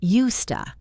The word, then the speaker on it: used to: We pronounce it "usta." The S becomes soft, and the to becomes a schwa.